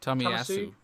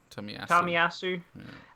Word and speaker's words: Tomiyasu: Can anyone give me the pronunciation? Tomiyasu. Tomiyasu.